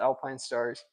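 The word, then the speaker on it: Alpinestars: I think that there's a big difference the Alpine stars that you see it that's how you say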